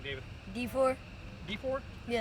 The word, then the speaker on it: DeFoor: D4. D4? Yeah. Spell it.